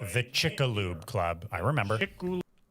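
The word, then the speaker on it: Chicxulub: So, what do they call when the asteroid the Chickaloo Club? I remember. Oh, is that how you pronounce it? Impact. The Chick. I thought it was Chickixel.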